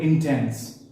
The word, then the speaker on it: intense: Let's take a word, say I have a word intense. Now the word intense can be broken into 2 syllables, in and tense.